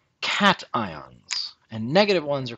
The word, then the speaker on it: cation: complicated now and then positive ones are called cat ions and negative ones are called anions i have heard this particular word pronounced casen especially by those with a french background but